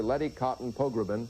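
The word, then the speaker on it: Letty Cottin Pogrebin: co-founder of Miz Magazine, Getting Over Getting Older, Lety Cotton Pogbin. I got it right, didn't I? Perfect. Well, you have too many syllables, by the way.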